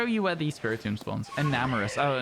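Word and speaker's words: Enamorus: Enamorous. Oh, not Eternatus. Enamorous. My bad, my bad. Yeah. Eternatus is from Sword and Shield. I just said the wrong word, but you're right. It's Enamorous.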